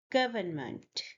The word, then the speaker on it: government: The first word is government. The first syllable is gov, and you stress the first syllable as this mark suggests.